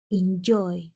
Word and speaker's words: enjoy: requisitos de esta regla Enjoy dos sílabas termina en consonante vocal consonante y lleva mayor fuerza de voz en la última sílaba sin embargo no cumple